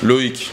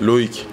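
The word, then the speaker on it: Loïc: Comment ça se prononce votre nom? My name, Remy. Et votre Loic? Prénom? Loic. Yeah, Loic.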